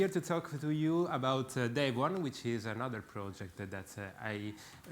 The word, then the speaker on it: Devuan: And it's spelled Devuan in English, Devuan, okay?